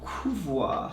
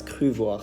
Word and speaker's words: Cruvoir: The store's name isn't Cruvoir, it's Cruvoir, C-R-U-V-O-I-R.